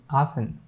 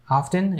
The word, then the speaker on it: often: But once there was a time people used to pronounce this T. And after that, people started not pronouncing that T, keeping it silent often. But nowadays, people are using both pronunciation, often and often.